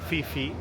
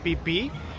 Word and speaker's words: Phi Phi: Today we're going on a tour of the Phi Phi Islands, or Fifi Islands, because they're spelled Phi Phi, but in Thai it's pronounced "pipi."